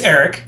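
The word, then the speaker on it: Ari: correct Eric hi oh is it Eric or is it a r i it's Eric yeah how do you spell it a r i yeah a r i I've never heard somebody spell Eric with an I thought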